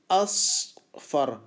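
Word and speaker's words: أصفر: پیلا یا yellow colour اصفر اصفر اصفر. یہ بھی جو ہے نا تقریباً ضاد کی طرح ضاد کی آواز نکل رہی ہے اصفر.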